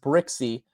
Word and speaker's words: Brzykcy: So, it is pronounced Brixie.